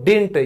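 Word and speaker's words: didn't: इसको कह सकते हो डिंट ये बोलने में ऐसे आता है डी आई एन टी डिंट कि मैंने ऐसा नहीं बोला था क्योंकि ये जो नेक्स्ट डी है ये आपका साइलेंट हो जाता है मुझे ये नहीं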